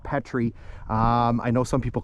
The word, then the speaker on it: Petry: A little bit of debate on the pronunciation. So I call it Petry. I know some people call it Petry.